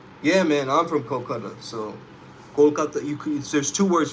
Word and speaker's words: Kolkata: There's Calcutta and Kolkata. We called it Kolkata after the British fled from India, as they called it Calcutta, because they couldn't pronounce Kolkata or whatever.